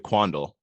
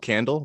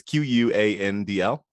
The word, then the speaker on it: Quandl: One was about NASDAQ Data Link, which is a service previously known as, I'm going to pronounce it Quandl. I always want it to be called Candle, but it's Quandl.